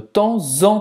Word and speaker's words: temps: Então, na primeira palavra temps, você vai falar como se tivesse o Z. Temps en, e na última eu não pronuncio. Não. Nem o P, nem o S.